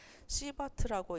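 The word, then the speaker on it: Sievert: 그리고 GI라는 것은 그레이라고 읽는데 이것은 방사선의 흡수설량 그리고 1. 그리고 100 라드라고 표시한다. 그리고 SV라는 것은 우리가 시버트라고 읽는데 시버트는 방사선의 조사설량이라고 하는데 유효설량이라고 하는데 유효설량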